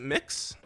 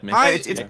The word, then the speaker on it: MX: Is it mix? MX. MX. MX. M. Yeah, mix I believe. Yeah, mix. It's pronounced mix.